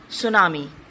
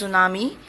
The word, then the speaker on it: tsunami: The very first word is tsunami. Yes, it's tsunami. T is silent.